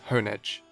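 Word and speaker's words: Honedge: Honeage after the So the anime also says honeage. Well, that is the most common pronunciation I've heard and even I pronounce it as Hone Edge. So, I'm going to go with the correct pronunciation being Hone Edge.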